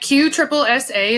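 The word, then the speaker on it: QSSSA: always good all right q triple si is how you say this so this is a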